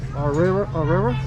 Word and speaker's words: Aurrera: They also have a brand over here called Aurrera.